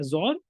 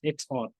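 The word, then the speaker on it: XOR: to everybody then comes bitwise zor okay zor or you can say pronounce it as XR okay this is the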